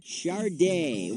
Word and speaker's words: Sade: It's pronounced Chardé.